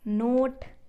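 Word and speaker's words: knot: Wall, wax, wind, Y, नोट, nib, knee, निट, नॉट। अब ये नी में के साइलेंट रहता है, ऐसे निट में भी के साइलेंट रहता है और नॉट में भी के साइलेंट रहता है।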